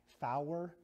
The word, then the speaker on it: four: You got four, which is supposed to be pronounced fower, all right?